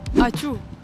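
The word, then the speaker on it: ačiū: La única palabra que sé es achu. Ajá. Que es gracias. Exacto. Pero a todo el mundo le resulta gracioso porque suena como el sonido de estornudar, ¿no?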